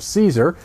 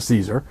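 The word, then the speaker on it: Cesare: cornfield 3 the Church of fro by Adam Caesar and I did pronounce that correctly it's not chz it's he pronounces it Caesar anyway that book comes out on August 20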